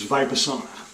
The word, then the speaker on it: Vipassana: know if I get it right or not by vibe asana like the sauna I wanted to save it the sauna but I think looks on the YouTube pronunciation guide it was VIPRE summer and that is also an Eastern meditation form